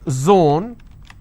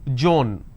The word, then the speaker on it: zone: example if i have the word zone they pronounce this as john if i have the word